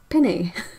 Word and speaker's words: penne: How do you say penne? Like the word pen, not pin. People say pinny? What? Dude, no. No, no, no, no, no, no. Penny.